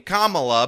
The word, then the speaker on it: Kamala: let's let's um Kamala and I'm calling you Kamala cuz for all of those who are mispronouncing it I want you all to know